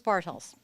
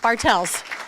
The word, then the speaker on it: Bartels: of the board Bartles Bartels sorry Bartels all my life I've had the answer to my last name is spelt or pronounced bartels it's German but I respond to